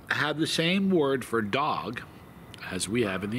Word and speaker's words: dog: the same word for dog as we have in the English language the in the the language mam a word for dog is Dog and it's pronounced almost identically to how we say it uh this is purely